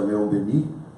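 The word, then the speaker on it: Léon Denis: De acordo com o apóstolo do Espiritismo, Leon Denis, que a gente pronuncia Leon Denis no francês, ele costumava dizer que a gente dorme na pedra, sonha na planta, agita-se no animal e acorda no homem.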